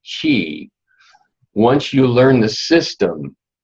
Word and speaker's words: qi: And even though it seems weird that a QI would be pronounced chi, once you learn the